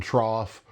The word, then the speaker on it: trough: There's words like cough and trough where it's pronounced uh like off.